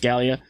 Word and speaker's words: Gallia: Rest assured, you will be ready for any racing challenge across Gallia, pronounced Gallia, while driving one of these vessels.